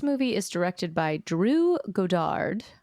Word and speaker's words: Goddard: is directed by Drew Godard I'm assuming it's Godard I think he might pronounce it Goddard but who cares you should pronounce it Godard I I believe it